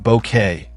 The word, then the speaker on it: Bucket: Her insistence that her surname be pronounced bouquet, her camelid suppers, and